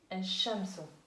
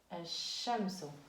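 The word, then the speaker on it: الشمس: En prononciation, on dit al-shamsu. Al-shamsu. On ne prononce pas lem, mais on l'écrit.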